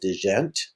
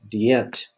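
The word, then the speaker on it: djent: they made famous is a way of playing guitar called Digent. And I think that's how to properly pronounce it. My French isn't that good, and since there's consonants in there you don't pronounce, I'm assuming it's French. But actually it's Dient is how you pronounce it.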